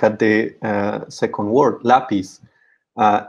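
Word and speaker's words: lápiz: second word lapis uh lapis ends in z in spanish so it's a consonant that is not n or is s and this stress should should fall on the last syllable so in this case we have a uh an irregular case of uh stressing the a different syllable in the word so that's why we add a stress mark it is just to show the irregularity uh in this in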